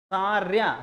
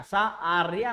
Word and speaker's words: सार्या: तो द्वादश मात्रास्तथा तृतीयेऽपि अष्टादश द्वितीये, चतुर्थ के पंचदशार्या, ठीक है ना, शार्या, सार्या, सा आर्या नहीं बोलेंगे, सार्या, ठीक ना।